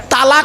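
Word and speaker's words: طلاق: আর তলাক মনে আছে শব্দটা তালাক নয় শব্দটা হল তলাক স্বামী স্ত্রী ঝগড়া করতে করতে কি দেয় তালাক দেয় না ওটা তালাক নয় শব্দটা লাম বাংলা উচ্চারণ তলকার আরবি উচ্চারণ হল তফ তলাক মানে পৃথক দেবা ছেড়ে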